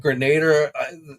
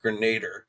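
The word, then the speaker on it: Grenadier: I'm going to call it Grenader. They pronounced it differently in the live stream, but I've always pronounced it Grenader. So I'm going to stick with that.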